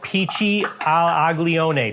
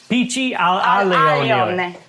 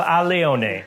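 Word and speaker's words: Pici all'Aglione: Pici al aglione. Did I pronounce it right? No. Damn it. Al alione. Pici al alione. Pici al alione.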